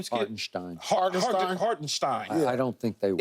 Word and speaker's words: Hartenstein: Hartenstein.